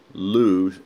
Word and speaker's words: Loos: was who for sure lose el OS but the S is silent Hulu do you think